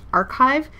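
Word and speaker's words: arXiv: funny a RX IV it's pronounced archive and then this is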